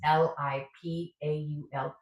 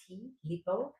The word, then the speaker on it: Lipault: This is Lipo, which is, it's a French line. It's Lipault, Lipo.